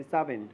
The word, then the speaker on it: savant: Confirm करते हैं, ये वर्ड SAVANT जिसका इनन्सिएशन या शुद्ध उच्चारण होता है सावेंट, सावेंट, सावेंट, मतलब होता है बुद्धिमान या ज्ञानी।